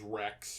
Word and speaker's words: Wrecks: His name's Rex, but it's spelled W-R-E-C-K-S.